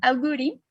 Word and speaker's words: agouti: gen que se llama agouti, así se pronuncia en inglés, de unas ratitas que